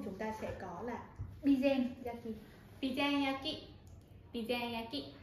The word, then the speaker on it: Bizen yaki: Và cuối cùng chúng ta sẽ có là bizen yaki. Bizen yaki. Bizen yaki. À, đó là một số cách phát âm chính xác của người Nhật khi mà